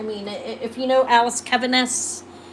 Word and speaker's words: Caviness: Keviness is spelled Caviness.